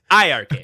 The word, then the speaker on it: iiRcade: with two eyes, but you don't pronounce it with the eyes at all, and it's iiRcade with two eyes, but it's pronounced iiRcade.